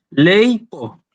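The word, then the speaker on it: λείπω: Fíjense, yo tengo acá dos sílabas. Ley, digamos, leipo.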